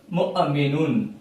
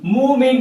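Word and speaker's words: مُؤْمِنُونَ: வாவுக்கு மேல Hamza, wow silent. முஅமினுன், முஅமினுன், முஅமினுன். மூமின், மூமின் சொல்லக்கூடாது. வாவு சைலண்ட், வாவு உச்சரிக்க கூடாது. மேல ஹம்சா இருக்குது, ஹம்சா தான் உச்சரிப்பு. அந்த ஹம்சாவுக்கு சுக்குன் வந்தால் வெட்டி சொல்லணும். முஅமினுன் என்பதாக சொல்ல வேண்டும்.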